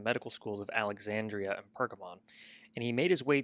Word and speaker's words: Pergamon: I think it's pronounced Pergamon. Pergamon, yeah.